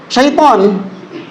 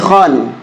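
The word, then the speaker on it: شيخان: Loh, memang sekilas bacanya seperti apa? Setan. Padahal apa yang benar? Syikh. Syikhan. Iya.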